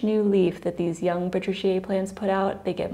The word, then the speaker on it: patriciae: Thomas Crote pronounce this as Patriciae, just like Araceae. However, some of us say Araceae or Patriciae. I've also heard it pronounced Patriciae.